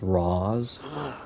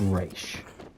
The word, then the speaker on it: Ra's: Because I hear it pronounced in Arrow all the time. It's Roz, and it drives me insane. It's Ra's.